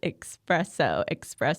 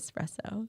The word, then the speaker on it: espresso: Well, you say espresso instead of espresso. Espresso. Oh, like the X.